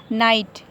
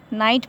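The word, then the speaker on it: night: Next है नाइट, यहाँ भी वॉवेल आया है जी एच से पहले तो हमारा जी एच साइलेंट रहेगा, नाइट पड़ा जाएगा।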